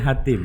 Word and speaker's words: Hateem: bacanya Hatim.